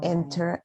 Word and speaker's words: entrepreneur: The first question is, what are 4 pros and 4 cons of being an entrepreneur? Entrepreneur. Entrepreneur. Mm, Entrepreneur. Entrepreneur. At the end is like entrepreneur and then ner.